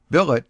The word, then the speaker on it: billet: Billet does not rhyme with ballet.